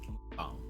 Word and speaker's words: mukbang: And it is pronounced mukbang.